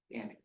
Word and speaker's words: Gannic: Gannick, G-A-N-N-I-C. Gannick. Gannick.